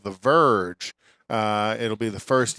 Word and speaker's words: Verge: small suv called the verge uh it'll be the first ev to go on sale this spring and not the virgin but the verge v-e-r-g-e is that verge verge oh my gosh